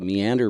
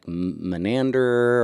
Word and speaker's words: meander: A lot of people would say menander or Menander.